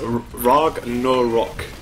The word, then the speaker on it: Ragnarok: Okay, someone in chat said that it's pronounced Ragnarok. So we were basically right, but I think it's like there's more length to the word, I guess.